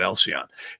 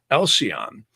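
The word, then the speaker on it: Alcyone: Now, some people call it different, but I pronounce it Alcyon.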